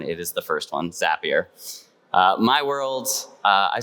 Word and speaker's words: Zapier: question I get is how on Earth you pronounce it is it zapier zapier if you're French speaker zapier it is not the last one it is the first one zapier uh my world uh I started my career